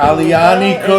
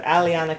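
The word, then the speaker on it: Aglianico: Yeah, so that's the Boca Alianico di Lupo and too. My favorite grape. Wait, you need to. So the G is silent, right? So Alianico. Alianico.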